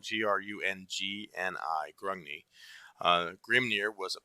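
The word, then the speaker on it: Grungni: and the second one was grung knee and it's spelled g-r-u-n-g-n-i grungney uh Grim near was a passionate violent Warrior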